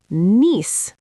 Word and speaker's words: niece: You see the letters N-I-E-C-E, but you say it like Niece. Just niece, one syllable. Like the word knees, the part of your leg. Exactly. So niece sounds exactly like knees.